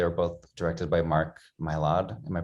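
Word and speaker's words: Mylod: in italy they were both directed by mark mylard am i pronouncing that right yeah monologue yet it's basically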